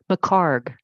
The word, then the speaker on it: Picard: move most people don't it's my card Picard yep thank you I'll